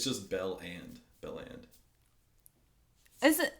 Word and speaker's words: Belland: properly like you're going to have it's just Bell and band is it not it's spelled that way too it's belland Bell and that and I'm saying belland oh okay so